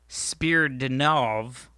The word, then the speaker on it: Spiridonov: So this guy is his name is Valery Spiridonov. Perfect pronunciation.